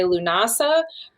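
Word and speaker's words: Lughnasadh: English so you know it's not a tongue twister like luag nassad see you say that better than me it's like it's an awesome something yeah people say lunasa um you could just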